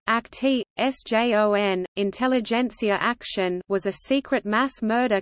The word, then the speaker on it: Intelligenzaktion: Intelligenzaktion German pronunciation, Intelligenz, S, Akt, Sjon, Intelligenzaktion was a secret mass murder conducted by Nazi